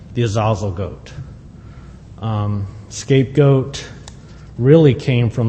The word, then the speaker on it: Azazel: this is over because it looks like a long a to me but they say it should be a short a so I know I'm